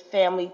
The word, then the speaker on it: Phamaly: And one of you mentioned, you brought this name into space, Family Theater Company, and that is spelled PHAMALY. Family stands for Physically Handicapped Actors and Musical Artists League.